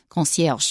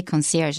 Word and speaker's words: concierge: We're not saying words like concierge. Okay, I said it with an American pronunciation. In real French, it's more like concierge, but we say concierge in English.